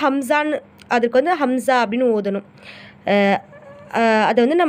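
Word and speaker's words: همزة: அப்புறம் அலிஃப் மேலே இந்த மாதிரி ஜபர் ஜேர் பேஷ் இந்த மூணுத்தில் ஏதாச்சும் ஒரு சிம்பிள் வந்துச்சு அப்படின்னா அதை நம்ம அலிஃப்னு உச்சரிக்காமல் ஹம்சான்னு, அதுக்கு ஹம்சா அப்படின்னு ஓதணும்.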